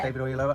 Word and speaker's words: David Oyelowo: I thought David Oyelowo, is that how you pronounce his name? Yeah. David Oyelowo.